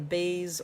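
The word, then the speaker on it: בית: So the bet has a dot. The beis or the bet, both are correct pronunciation. There is not an incorrect way to say it.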